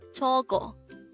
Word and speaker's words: 저거: 저거. 저거. This is pronounced as a two-syllable word. The first syllable is 저, the second syllable is go. Pronounce it with me. 저거.